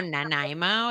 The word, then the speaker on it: Nanaimo: all dressed chips nanimo bar the nymobar oh nanaimo is that how you say it yes you're